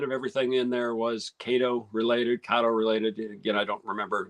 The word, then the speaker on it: Kato: I think it's Kato. I did look on Googled it after we got back, and it's like, how do you pronounce this? And and it's like Kato is the automated voice. So on my video, you're going to hear me pronouncing it both ways, Kato and then Kato. And I didn't hear anybody